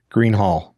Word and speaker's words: Greenhalgh: to be joined by a good friend Green Hall now did I pronounce that correctly a good friend of mine